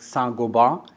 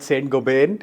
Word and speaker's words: Saint-Gobain: I understand the right pronunciation is something like Saint-Gobain. Correct. You're absolutely right. In so India, pick it up very quickly. In India, we call it Saint-Gobain.